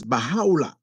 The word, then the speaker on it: Baha'u'llah: And then we have Mirza, how it is pronounced, known as Baha'u'llah. So you might hear speaking to a person from the Baha'i faith, you might be constantly hearing from that person, Baha'u'llah, Baha'u'llah, Baha'u'llah.